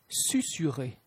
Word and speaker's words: susurrer: Susurrer, susurrer. La lettre C se prononce comme un S devant les lettres E, I et Y.